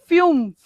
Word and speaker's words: fünf: So अपन इथे हम यहाँ पे फुम्फ नहीं करेंगे. ओके, ये umlaut का जो है हमें प्रोनाउंसिएशन करना है, इसलिए फ्यूम्फ.